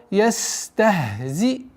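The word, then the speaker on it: يستهزئون: Ястахзиун. Ястахзиун. При остановке аннулируется фатха, уходит в сукун. И четкое и ясное произношение, долгота в размере двух огласовок даммы.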